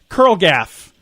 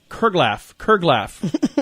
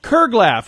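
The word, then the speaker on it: curglaff: and today's word is curlgaff. Curlgaff. C-U-R-L-G-A. I'm going to try that again. C-U-R-G-L-A-F-F. Kurglaff. I think I said it wrong the first 3 or 4 times. I think you did, yeah. Kurglaff.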